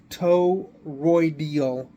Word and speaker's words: toroidal: have trouble pronouncing it it's t-o-r-o-i-d-a-l so as toe roydial rotor so I'm going to